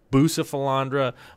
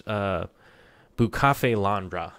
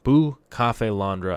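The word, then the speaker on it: Bucephalandra: kind of just and I keep saying bootiful Andra but I believe it's bucha fail on bra is how it's a it's supposed to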